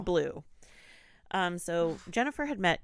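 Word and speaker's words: Bleuw: spell it oh yeah his last name is b l u b b-l-e-u-w blue but it's blue um so Jennifer had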